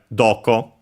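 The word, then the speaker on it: どこ: And then we have doko. The ko, so, a are unaccented, while do is accented on the first syllable.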